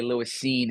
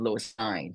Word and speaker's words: Lewis Cine: You know college football when you say Lewis Cine instead of Lewis Cine, right? Because some people see C-I-N-E and they won't say Cine.